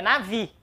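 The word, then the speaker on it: נביא: duas sílabas separou aqui nave nave não é nave é nave a sílaba tônica é a última ok nave nave quer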